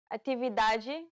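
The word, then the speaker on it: atividade: Ade idioma ijioma now pay attention to the T sounds ete Chi atividaji the way you pronounce them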